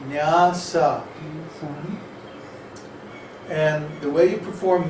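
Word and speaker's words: nyāsa: After you do your tilak and achaman, then it's called nyasa, N-Y-A-S-A, Oh, I spelled it right. nyasa, with two long A's. Huh? Too long or one with a... Two long A's. Nyasa.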